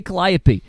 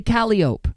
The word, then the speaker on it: Calliope: go to New Orleans none of them say Calliope they say Calliope what do they know so I fight everybody at camp about this every year it Calliope is not how they say it down there and I think that it's born from from the the creole language is it not I believe it is and I've heard it Calliope a Calliope Calliope I